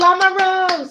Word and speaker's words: Lamoureux: That if you see EAUX, that's O, long O. Oh, okay. That is okay. I was wrong. She spells it a little different. I think it would be pronounced about the same, probably.